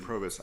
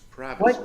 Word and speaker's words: Provis: a complete failure Mr provis I think I'm sorry judge rer go ahead no Mr provis Excuse me your honor it's pravis with a short o what my name is